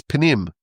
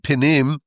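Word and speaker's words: פנים: word for inside is panim, which sounds very similar. It's not exactly the same word, panim and pinim, but it's spelled the same way. It's just slightly different vowels.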